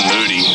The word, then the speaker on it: Moody: For example, you've got Justin Moody. The guy's name rhymes with booty.